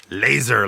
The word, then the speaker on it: Lazor: Is that actually how it's pronounced, or do you just like it when people pronounce it like that because it sounds awesome? It's laser normally.